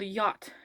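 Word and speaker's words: Jot: look at like the german alphabet where j is called yacht um it and it's pronounced as a y instead of j like a j sound in english um because it means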